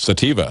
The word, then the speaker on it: sativa: sativa or sativa I don't know how to pronounce that sativa thank thank you thank you um so anyway